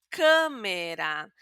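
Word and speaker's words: câmara: Por ejemplo, la palabra cámara. Aquí, además del sonido cerrado, tenemos también una m. Entonces, va a sonar un poquito nasal también.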